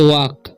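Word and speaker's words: walk: नहीं पढ़ना है, क्या पढ़ना है रन, इसे वॉक, ठीक है। एल साइलेंट है, ठीक है, वॉक नहीं पढ़ना है, इसे वॉक पढ़ना है, वॉक नहीं।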